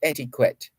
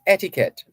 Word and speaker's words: etiquette: etiquette but it's not adequate it's etiquette although it's spelled e-t-i-q-u-e-t-t-e it is pronounced etiquette so business etiquette 101